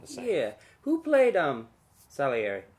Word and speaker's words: Salieri: Salieri how do you say it exactly I'm Salieri yes that's what the internet told me what